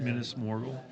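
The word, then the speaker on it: Minas Morgul: I will say Minus, how do you pronounce it? Minus Morgal.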